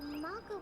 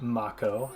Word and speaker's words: Mako: Daddy, the Mako place blew up. Everyone on TV's talking. And here again, where I'm learning that it is pronounced Mako and not Mako.